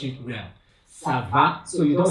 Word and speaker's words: ça va: You need to know how to pronounce it well. Ça va. So you don't say ça va, you say ça va.